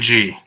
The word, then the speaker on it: Shenzong: Spell that for me. Shinzog? That doesn't sound Shinzong. right. Shinzong. Shinzong. It's Shenzong.